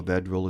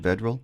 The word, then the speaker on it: Vedral: Nebraska grad transfer Noah Vedil is the man under center. Is that how you pronounce his last name? Vedril. Vedral. Correct.